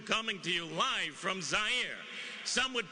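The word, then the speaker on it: Zaire: how had coel coming to you live from zier some would pronounce it zir they're wrong it got big laughs and then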